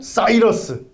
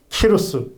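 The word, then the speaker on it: Cyrus: 제국을 참 권했던 왕입니다 고래 스 또 다른 발음으로 보면 싸이 러스 또는 치료 수 라고도 발음합니다 그러니까 뭐 헬라 식으로 많음 않느냐 영어식으로 발음한 냥 이루겠다는 발음이 좀 달라요 동일한 인물입니다 고래 쓰는 싸이 러스 키루스 똑같은 관계 이름입니다 근데 s 라 1장 해보게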